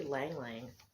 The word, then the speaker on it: Lang Lang: I said Ling Ling. It's actually Lang Lang.